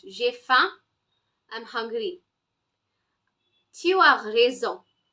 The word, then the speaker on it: faim: Not femme. M is silent. J'ai faim.